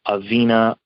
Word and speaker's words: Avina: easily find us on our website which is aveena financial group dot com aveena is spelled a v i n a um they